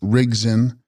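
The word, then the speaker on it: རིག་འཛིན: Text: Rigdzin, pronounced Rigzin, possessing or holding knowledge, These deities are purely tantric.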